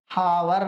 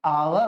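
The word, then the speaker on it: hour: अब देखो ए और एन को प्रोनाउंसिएशन के हिसाब से देखेंगे, हावर नहीं आवर होता है, आवर।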